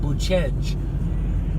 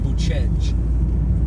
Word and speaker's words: Bucegi: search about Sinaya and Boo-chej, the Bucegi, and it's spelled Bucegi to an American who might be reading it, but here it's pronounced Boo-chej.